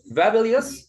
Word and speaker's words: fabulous: And words ending OUS. So yes, OU is pronounced as a schwa, such as dangerous. Dangerous. Nervous. Fabulous or fabulous? Fabulous. Yes, not fabulous. Okay, there is a schwa.